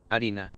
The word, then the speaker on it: harina: No, wait, what? Harina. Harina. Oh, Harina. Harina.